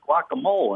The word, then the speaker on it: guacamole: No, she just apparently said she knows that in Mexico it's guacamole and anywhere else in this country it's guacamole.